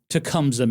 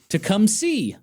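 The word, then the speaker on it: Tecumseh: However, apparently it is not pronounced Tecumsa, Michigan.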